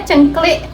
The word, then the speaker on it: Cengklik: Nah, terus itu bacanya cengklik. Cengklik. Cengklik. Cengklik apa? Sini. Tergantung kamu logat mana.